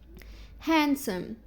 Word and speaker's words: handsome: لا ما ننطقهاش خالص. Grandma, grandpa, grandfather, grandmother, gran. Okay. Don't say grand. No. Handsome.